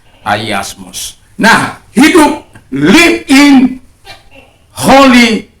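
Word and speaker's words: ἁγιασμός: Kadang orang bilang hagios. Hagiasmos. Tapi dalam pronunciation yang benar ialah ayasmos.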